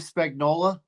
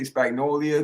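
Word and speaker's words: Spagnuolo: guy the spag Steve Spagnola yeah that guy always get his name wrong I always say spagnolia because I want I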